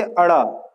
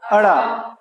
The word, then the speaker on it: ड़: पहला है ये वाला, डमरू के नीचे बिंदु लगी है जिसमें, है ना, इसको बोलते अड़। क्या बोलते? अड़। आपने सड़क शब्द सुना होगा, सड़क।